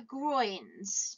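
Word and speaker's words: groynes: Then we've got our groins. Just have a quick look at how you spell that word groins.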